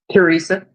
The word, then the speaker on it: Theresa: Miss Theresa, did I say it right? Teresa. Theresa. Where I get okay. Miss Teresa, what's going on in your spiritual journey, dear? It said the H is silent, but I'm not.